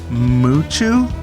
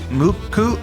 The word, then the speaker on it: MUCC: honey by a band it's spelled m-u-c-c but dave says it's pronounced muchu or muku i'm not sure it's m-u-c-c-u's how he says pronounced but i'm gonna listen